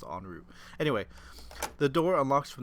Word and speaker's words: en route: I said en route. Cuz that's the way it's spelled, but I'm pretty sure it's pronounced on route.